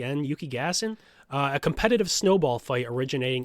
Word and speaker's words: Yukigassen: Yukigassen is, I think, how you pronounce it. Yukigassen. Yukigassen.